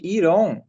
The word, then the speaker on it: iron: Iron, gente, iron, né? Você fala iron, não tem O nessa pronúncia. Iron Man não existe.